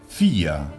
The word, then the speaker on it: vier: Pero al final de palabra la pronunciaremos casi como una A. Una mezcla entre A, E, como con cara de asco. Vier.